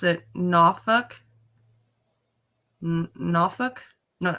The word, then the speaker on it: Norfolk: They pronounce it Norfolk.